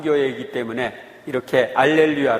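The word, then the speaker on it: Alleluia: 나오는 쉬움 바라 2h 다름은 발음 하지 않기 때문에 할렐루야 가 라틴 교회에서는 알렐루야 가 된 것입니다 아시겠어요 성경에는 할렐루야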